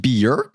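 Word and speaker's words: Björk: This drawing comes to us by way of Medula, who says it's a drawing of Bjork, pronounced Bjork.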